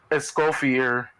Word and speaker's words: Escoffier: Escorfier. That's how you say her name. Ew, that name's fucked, by the way. Wait, how? Escofonier? That's what I hear. Escoffier.